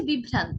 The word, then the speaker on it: বিভ্রান্ত: একইভাবে বিভ্রান্ত, বিভ্রান্ত, আমরা কিন্তু বিভ্রান্ত বলছি না, একবার উচ্চারণ করলে উচ্চারণটি হতো বিভ্রান্ত, কিন্তু আমরা উচ্চারণ করছি বিভ্রান্ত। দেখুন ভ দুইবার আসছে, বিভ্রান্ত, বিভ্রান্ত।